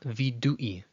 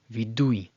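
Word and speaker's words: וידוי: Again, notice how it's not vidui, vidui, with a break, but rather both both vowels are combined, and they're pronounced together, vidui, vidui.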